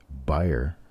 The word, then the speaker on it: Beyer: Notice how I pronounced that with a special accent on the Beyer. We tend to have a certain staff member of Copper Coins who needs to learn that name.